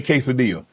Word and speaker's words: quesadilla: So, so we've been saying it wrong cuz we say quesadilla. Well, I'm saying it cuz I'm Mexican and I have an accent.